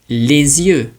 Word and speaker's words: les yeux: Now the liaison is tying the letters, the sound of the S, with the beginning of the next word, and it just makes it sound easier to pronounce.